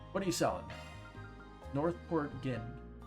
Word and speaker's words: Northport Gin: Northport Gin. That one's pronounced with a J.